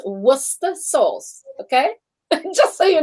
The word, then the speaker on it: Worcester: say it yeah it's not like that it's pronounced worcester sauce okay just so you know no no